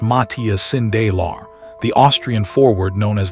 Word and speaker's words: Matthias Sindelar: Matthias Sindelar, pronounced Matthias Sindelar, the Austrian forward known as the Paper Man, refused to play for the Reich.